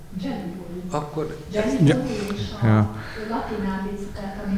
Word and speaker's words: Gelibolu: egy C betűvel írt, és talán S betűvel kiejtett szót, városnevet, vagy ilyesmit említett. Tehát nem a Gallipolit. Gelibolu. Akkor... Gelibolu és a latinális, tehát ami nálunk a C-fonéma, az a törökben a G.